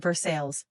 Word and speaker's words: Versailles: Around there, everyone pronounced it Versailles, because people in Kentucky never seemed interested in letting the French have the last word on anything.